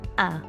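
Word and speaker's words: às: I'm out of argyle you'll notice that ah or us is spelled with an accent the accent in garlic usually means the vowel is long but here it's used to show that the sound is a nice open ah now I should expect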